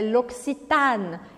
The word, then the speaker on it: L'Occitane: shoppings por aqui no Brasil é a marca L'occitane não é los pitani é L'occitane este a é aberto L'occitane e aqui é